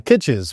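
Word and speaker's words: Kitces: How do you pronounce this gentleman's name again? Kitches. Michael Kites.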